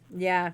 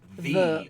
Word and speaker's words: ye: Well, Y used to be a letter in Old English called thorn, and it was actually pronounced th, and that's why it's not ye old N. It's literally pronounced the old N.